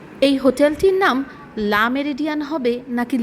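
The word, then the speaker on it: Le Méridien: ইংলিশে বলা হয় দা মেরিডিয়ান। আর যদি ফরাসিতে বলতে চান তাহলে বলতে হবে লো মেরিডিয়। এখানে নটা উচ্চারণ করা হবে না।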